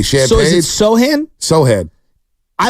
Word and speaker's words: Sochan: Sohan. A lot of people say Sochan. Yesterday, what did I say? Champagne. So is it Sohan?